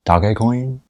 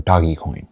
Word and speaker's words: Dogecoin: probably heard of dogecoin dogecoin or doggy coin whichever pronunciation you like the most so in this video